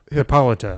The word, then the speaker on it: Hippolyta: you say it apologize hippolyta I think he stressed the middle one okay maybe I don't